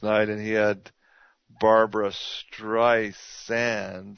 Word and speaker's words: Streisand: Hard Z versus a soft S?